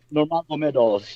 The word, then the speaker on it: Nurmagomedov: I'm usually very good with the Slavic names, but this man is, after all, Dagestani, and so it's Nurmagomedov. Nurmagomedov, yeah.